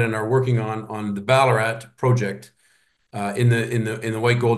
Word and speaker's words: Ballarat: Did I pronounce that properly? Yeah, Ballarat.